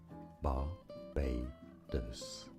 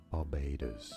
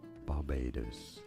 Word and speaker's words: Barbados: islands in the Caribbean Barbados barados Barbados stress on the second syllable Barbados and now you know